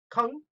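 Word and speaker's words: !Kung: They were known as that, and that include groups like the Kung, and yes, that is pronounced with clicking your tongue like Kung.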